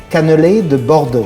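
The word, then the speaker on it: cannelés de Bordeaux: afternoon for breakfast anytime yeah how do you pronounce it again it's can Canal de bordo Canal de bordo B de bordo the bordo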